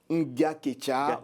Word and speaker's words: Ngaketcha: Je prononce entièrement votre nom. C'est Armand Nga-Ketcha.